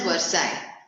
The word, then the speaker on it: Versailles: Spelling is Versailles, pronounced as Versailles. The peace treaty was signed at Versailles.